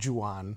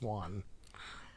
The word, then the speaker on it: Juan: It's like Juan. It's not Juan. It's Juan. I suppose that's true.